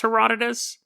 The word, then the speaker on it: Herodotus: are probably right that it's pronounced Herodotus but it's spelled he rode notice so that is but